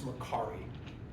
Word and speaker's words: Mercari: And it's Mercari.